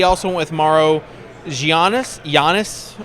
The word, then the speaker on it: Giannis: went with Maro gianis Giannis as they say Yannis ymo how many times am I going to mispronounce that jannis acmo an TMO ISO um